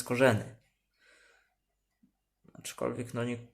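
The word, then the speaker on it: Skorzeny: No mirzynski mówi że powinno się to nazwisko wymawiać korzenny teraz oczy kolwiek na nich większość ludzi łowisko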